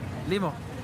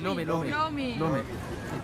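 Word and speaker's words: ሎሚ: How do you say it in Amharic? Limo. Limo? Lumi. Lomi. Limo, Lumi is very similar.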